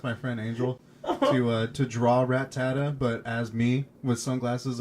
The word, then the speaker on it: Rattata: Oh, is that how you pronounce it? Yeah, Rattata.